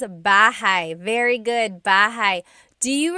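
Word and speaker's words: bahay: Shir said, I always make a mistake with bah and so bahigh is house. Buhai is your life.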